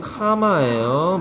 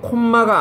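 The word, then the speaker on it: comma: 얘는 카마예요. 미국식 기준입니다. 카마예요. M 두 개 있다고 콤마가 아니라고요.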